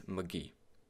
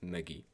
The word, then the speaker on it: Megee: It's Megee. I mean, it's like M-E-H, then G-E-E. That's how I pronounce it, Megee.